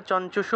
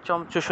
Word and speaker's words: চঞ্চুষু: যদি আমরা বাংলায় বললে চঞ্চুষু বলতাম, চঞ্চুষু, কিন্তু এটাকে যদি আমরা সংস্কৃতে ভেঙে উচ্চারণ করতে চাই তাহলে চমচুষু, এইভাবে উচ্চারণটা হয় আর কি।